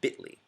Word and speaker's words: Bitly: L um we pronounce it bitly this is what's called